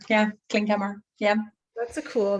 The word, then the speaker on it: Klinkhamer: How do you say, is it Klinkhamer? Klinkhamer, yeah, Klinkhamer, yeah.